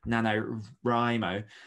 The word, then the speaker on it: NaNoWriMo: you want with it so we finished recently nanowrimo which obviously is a difficult challenge it's